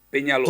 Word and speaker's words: Peñaloza: Porque nosotros los latinos, la S y la Z la mencionamos. S, en Latinoamérica ZS es casi lo mismo, ¿no?